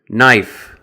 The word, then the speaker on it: knife: Other words with the silent K include knife, knee, know, knock, need, and knuckle, which is this part of your hand right here where the finger joins the hand.